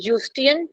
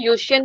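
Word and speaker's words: Eustachian: ई खा जाइएगा इसका, यूस्टिन में इसको यू से प्रोनाउंस करते हैं, यूस्टियन ट्यूब, यूस्टियन भी बोलते हैं, यूशियन भी, या यूस्टैशियन भी बोलते हैं, यूस्टैशियन ट्यूब, तो जिसको जैसा मन कर रहा है बोल सकते हैं, बस इसमें ई नहीं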